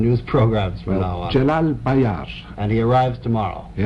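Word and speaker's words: Celal Bayar: Jalal Bayar.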